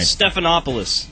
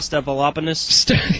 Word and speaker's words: Stephanopoulos: makes me sound bad i cannot pronounce this guy's last name right stephanopoulos stephanopoulos is it not stepalopenis yes okay you said